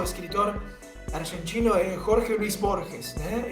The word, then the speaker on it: Jorge Luis Borges: Isso aqui me lembrou de lo que falava o escritor argentino Jorge Luis Borges, né? Em português se pronunciaria Jorge Luis Borges.